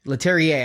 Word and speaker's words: Leterrier: Louis Leterrier? Leterrier.